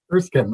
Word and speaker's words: Erskine: I don't know how to pronounce it. Elk wood flooring, 2728 Germain Avenue East. You say that Erskine. Erskine.